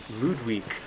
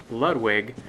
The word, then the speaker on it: Ludwig: emphasizing the sound in loot week as opposed to pronouncing the character's name as Ludwig because it's closer to the Japanese used to display the name in the original the pronunciation would be